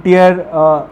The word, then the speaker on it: tier: then they open in tier, it is tier not tire, please, I am not pronouncing it incorrectly. Most of you will be listening to it as tire. It is not tire, it is tier 3